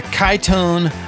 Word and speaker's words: Kytone: they are so today we are reviewing the kaitone Poncho that's spelled k-y-t-o-n-e Poncho this is a French product